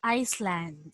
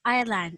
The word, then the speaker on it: island: this one please read okay island because i heard earlier was iceland so again it's island it's silent s okay now let's continue